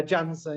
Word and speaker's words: Janson: Yeah, Janson, yeah. People often think it's Janson, but it is actually just the J. You say the J.